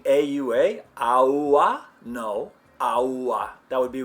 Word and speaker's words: agua: How about the word for water? Agua.